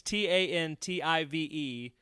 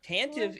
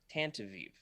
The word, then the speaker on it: Tantive: It's Tantive. Yeah, there we go. Tantive. Skooma Joe. Tantive. So Tantive is what it looks like. I Yeah. always say Tantavive.